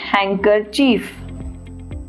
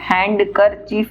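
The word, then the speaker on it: handkerchief: अब यहाँ पर नेक्स्ट देखिए, वन हैंकरचीफ। इसे हम पढ़ते हैं हैंकरचीफ, हैंड कर चीफ नहीं, डी साइलेंट हो जाएगा, वन हैंकरचीफ।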